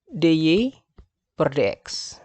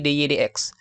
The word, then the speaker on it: dy dx: x, ini justru 32 dy per dx. Ya, sorry, bukan dy per dx ya, tapi dy dx. Karena ini adalah notasi, jadi membacanya, biarpun ini seolah perbandingan, jadi bacanya dy dx.